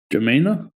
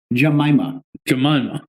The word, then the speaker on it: Jemima: I don't understand how you can't pronounce the name of a syrup. Jemina? You're getting worse and further. Jemima.